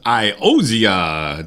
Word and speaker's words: Iozzia: Hey, welcome back live from Dennis's house, and now we're going to talk to my guest, Iozzia. Did I pronounce that correctly?